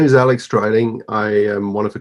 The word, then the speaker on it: Dreiling: I really like the product, and its president, Alex Dreiling. Am I pronouncing it right, Alex? Dreiling? Absolutely.